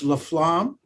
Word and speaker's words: Laflamme: started um so laflamme and we want to get that right it's leflam yeah okay that's the official french-canadian pronunciation i'm sure uh is